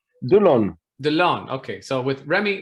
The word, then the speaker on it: Delaune: Delaune.